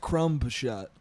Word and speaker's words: crumb shot: You know, I pronounce it crumb shot. Do you put the B in there?